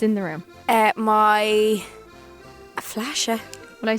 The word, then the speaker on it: Flasche: The word is flashe. Who? Flashe. Flashe. Flashe. Yeah. Spell it. FLASCHE. Oh, CH. Flashe. Flashe. Kinda. Mhm. Not like flasher. No. No, flashe. Flashe.